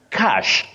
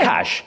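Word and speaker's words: cache: cash which is wrong that word is pronounced cash just like money okay cash so such words are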